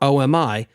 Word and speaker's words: OMI: called open management infrastructure or Omi which I insist is pronounced with three syllables not two in September the whiz